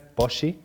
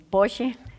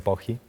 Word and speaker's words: Poggi: Bueno, en Argentina es Poggi. Poggi. Pero todos me dicen Poggi.